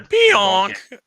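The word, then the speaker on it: Pionk: the real deal Neil pian or pianon yeah pian is good The ron deon Neil pian. You got to say it the way I said it. You got to say it like your or peon. Peon.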